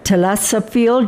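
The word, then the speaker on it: thalassophile: She's a Telasophiel. Do you know what that is? Lover of the ocean. Yes. I had to look up how to pronounce it because it's spelled TH.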